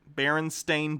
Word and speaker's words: Berenstain: baron steinstein berenstain bears say it right yeah they're the barons